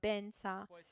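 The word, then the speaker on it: vajra: time you see vadra the Tibetan way to to to pronounce it is for Tibetans is bensa so wherever it's written vadra it might be recited as bensa so V vadra becomes Bena it's a Tibetan way of reciting vadra but since we and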